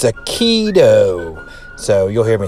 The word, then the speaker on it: Akedo: that it's called akiru akitu so what do you do minute correction on the pronunciation there guys i don't know why i try to put that you in there it's a keto so you'll hear me